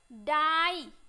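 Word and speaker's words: die: आई उच्चारण करना है जब किसी वर्ड के लास्ट में आई ई आए तो आई ई को आई से पढ़ते हैं क्या पढ़ते आई से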